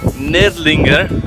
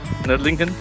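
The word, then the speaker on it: Nördlingen: Welcome to the second day of Nerdlinger. I finally managed to say it right. Nerdling and Nerdlingen.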